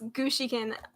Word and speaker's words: Gushiken: It's Gushiken. I'll write it out. Yeah, that's how you say it. Gushiken Academy. It sounds like Gucci Gang though.